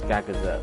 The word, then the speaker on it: Gagazet: Yeah, it's Gagazet. I don't remember what it was called. I know I said Coronet because that's Pokemon. It rhymes, but no, Gagazet.